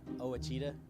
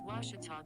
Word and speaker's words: Ouachita: ouachita sports digital network i've heard people say oh a cheetah oh wish tall oh a cheetah is it pronounced oh aikida searching for washi at a baptist university back in texas everybody pronounces it wichita but really it's ouachita washington washington how would